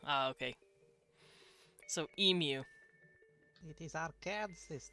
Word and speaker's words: Arkansas: so emu it is arkansas not arkansas america explains explain i can't explain the french it's all the s is silent because it's french you're welcome today is